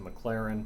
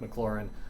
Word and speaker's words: McLaurin: fourth down passes to mclaren right maclaurin um i keep mispronouncing his name um he was off